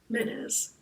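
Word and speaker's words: Menes: into a single kingdom menz is spelled m n e s menz the legendary King God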